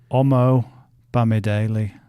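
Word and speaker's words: Omobamidele: Omo Bamidele. That'll do. Just Old Omo. So 3 syllables. Omo. Bammy. Daily.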